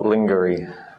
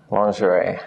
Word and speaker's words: lingerie: well the IE becomes a lingerie lingerie not lingery lingerie and then we have